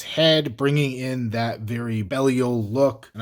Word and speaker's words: Belial: bringing in that very Belial look. And I always feel weird saying Belial, but that's how they pronounce it on the show, so I'm just gonna stick with that.